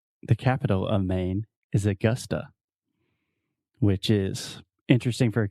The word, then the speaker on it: Augusta: and this is Augusta so we're talking about the schwa sound so most Brazilians will see this word and they want to say Augusta it's Augusta so say Augusta one more time Augusta Augusta awesome I'm gonna visit Augusta this summer Augusta Augusta and it's not Augusta Augusta Augusta yeah so you have two schwa the uh uh Augusta